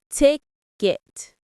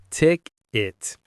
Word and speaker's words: ticket: Ticket. Ticket. The stress is on the first syllable. Ticket. One more time, nice and clear. Ticket. It sounds a bit like kick it, but with a T.